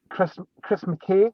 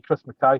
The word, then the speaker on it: Mackay: Then there's going to be the Chris McKay. I'm like, no, that'll be Chris Mackay, thanks.